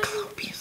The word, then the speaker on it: Cyclopes: Cyclopes? There's Cyclops. Yes. That is the... Cyclopes. That is the plural form.